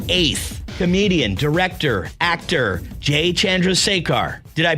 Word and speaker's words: Chandrasekhar: Comedian, director, actor, Jay Chandrasekhar. Did I pronounce that correctly, Jay?